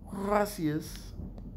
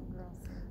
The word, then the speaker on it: gracias: Gracias. Did I say it right? Muchos gracias. It's not gracious. Gracias. You can't roll your R.